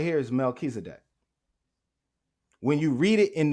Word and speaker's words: Melchizedek: word right here is Melchizedek when you read it in the Greek it's pronounced just as it looks Mel key static right Melky setic now let's look at